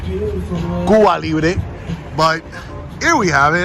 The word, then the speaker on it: Cuba Libre: I think it's called Cuba Libre. Or if you want me to pronounce it more accurate, Cuba Libre.